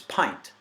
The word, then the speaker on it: pint: it makes no sense Flint went hint print splint sprint and even the word tint all say it right and then but it's pint with the long eye that's at that diacritical mark that means it's a long eye you know so pint